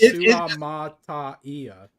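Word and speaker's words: Suamataia: Oh, I think it's Kingsley Suamatia, I think. That's how you say it. You say like every single vowel. It's Suamatia.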